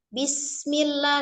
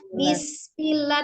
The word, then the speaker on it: Bismillah: Jadi bacanya bis. Mengalir. Bis. Baknya jangan bis atau bes. Ya, jangan bes, jangan diingat tapi bis.